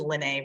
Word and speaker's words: Lene: My first name is Lene, rhymes with Renee.